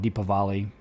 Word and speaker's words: Deepavali: Some call it Deepavali. Just depends on, I don't speak Hindi, so I can't really pronounce it correctly, but I've heard it pronounced both ways.